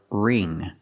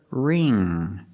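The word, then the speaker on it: wring: The W is silent, so we use the R sound. Ring. The ing makes the long e sound like green beans. So together, ring.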